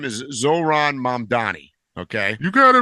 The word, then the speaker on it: Zohran Mamdani: There's this guy called I'm going to mispronounce his name, but his name is Zoran Mandani.